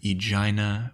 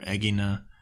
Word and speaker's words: Aegina: the island city-state of Aegina or Agena however you like to pronounce it I've heard it both ways in the years leading